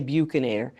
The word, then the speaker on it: buccinator: Now, some people say buccinator, but as I often say to my students, ask your aunt or aunt how she says it. Often the way we pronounce an anatomical term relates to how we learned it from our own teacher.